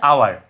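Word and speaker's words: hour: কিন্তু মনে রাখবে যে এইচ এটার উচ্চারণ হচ্ছে আওয়ার, এটা কিন্তু এখানে এইচ এর উচ্চারণ হয়ের মতো নয়, এইখানে এইচ এর উচ্চারণ আয়ের মতো, তাহলে মনে রাখবে এটা আওয়ার, তার জন্য এটা দি আওয়ার।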